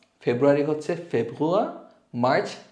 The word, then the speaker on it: Februar: বানানটা খেয়াল করবেন একটু। সো জানুয়ারিকে বলবো আমরা ইয়ানুয়া, ফেব্রুয়ারি হচ্ছে ফেব্রুয়া, মার্চ মেয়ার্চ, এখানে আউমলাউট মেয়ার্চ।